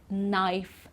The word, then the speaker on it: knife: to know ok so here we don't pronounce the K like in NOK knife me and not okay